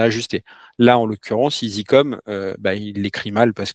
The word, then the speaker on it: ISI-COM: lui dire "Tiens, bah si tu entends le mot Easycom, sache que ça s'écrit I S I - C O M et pas E A S Y C O M."